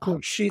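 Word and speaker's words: Košice: or Slovak Koshi is that how you say kosit kosit kosit that's pretty close it just takes me a while so you were headed there I looked on a MTH and I go holy cow kosit is only like 35 kilometers from medson life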